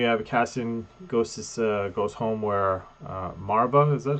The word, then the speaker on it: Marva: Then we have Cassian goes home where Marva, is that how we're Yeah, pronouncing her Marvel, name?